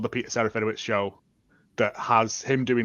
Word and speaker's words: Serafinowicz: How do you pronounce the actor's last name? I don't want to butcher it. Pete? Peter Serafinowicz.